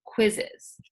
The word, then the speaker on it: quizzes: that it's not quite as so that it's quizzes there are a few other ones like that